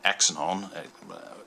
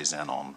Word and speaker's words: Xenon: could be the 79 Aon yeah but I'll say Zenon because I'm British and I believe that's the way it should proun be pronounced being an X and all that and